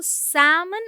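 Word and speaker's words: salmon: हम क्या पढ़ते हैं इसमें एल साइलेंट है सनस गलत है ठीक है यानी कि इसका भी प्लूरल फॉर्म हम नहीं अलग से एस लगाकर नहीं बनाते दोनों में सेम है एल तो साइलेंट रहेगा ही सो सैमन आर टेस्टी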